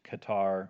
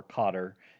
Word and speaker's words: Qatar: Middle East Iran Kuwait Qatar or Cotter depending on on how you pronounce that I hear both but when the World Cup was held in that country I heard Cotter a lot more regularly being the pronunciation the United Arab Emirates